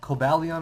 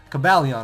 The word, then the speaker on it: Cobalion: kobal uh just SD I said caline Cobalion I mean yeah cabalion right or Cobalion I don't know cabalion I'm pretty sure is how you correctly pronounce it but with chuckleberry SD